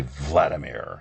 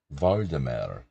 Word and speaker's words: Vladimir: My mom still can't say Vladimir. She says Voldemir.